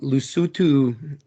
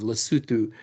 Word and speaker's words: Lesotho: from the culture of Lesotho which we would look at like and say Lesotho if we didn't know how to pronounce yeah things the right way um and so like